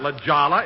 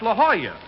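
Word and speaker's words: La Jolla: place jack that's not Lala it's La Hoya that's how you pronounce it in Spanish oh oh I didn't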